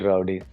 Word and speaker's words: RWDY: culture okay okay uh are we going to pronounce it as Rowdy or rwdy what is it we'll call it Rowdy we'll call it Rowdy simple so what's the story